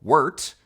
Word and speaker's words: wort: After that sweet barley tea, what brewers call wort, spelled like wart, but pronounced like yurt, because as the professor dedicated his life to proving, the English language hates us.